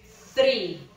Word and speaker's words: three: No, no se dice tree, se dice three.